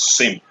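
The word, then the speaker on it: SIEM: This is pronounced as SIM.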